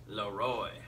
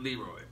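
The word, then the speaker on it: Le Roy: I pronounced that right Rochester Laroy not Leroy all right tickets available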